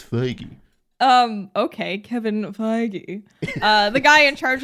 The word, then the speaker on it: Feige: seems like uh there's kevin feige who is the guy in charge nope kevin feige what i can correct you for once paris i can finally correct you feige it is kevin feige how is that not phage it's listen i've seen